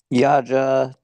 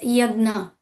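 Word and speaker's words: yajña: Yaja to Yaja of sacrifice. It's pronounced as Yagna Donna Charity Tapa and presence karma activity.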